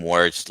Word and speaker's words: Worcester: I cannot quite imitate the the accent, but I do say some words like they you do cuz I uh I lived in Worcester County and it's wor county uh carnivore, you know, the the way they pronounce the the R.